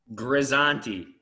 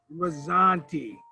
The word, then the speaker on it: Grizzanti: the hot seat how do i pronounce your last name brother i want to say it right grazanti rizzanti okay and our our goal